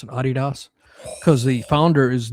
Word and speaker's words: Adidas: Most Americans say Adidas, but they pronounce it Adidas.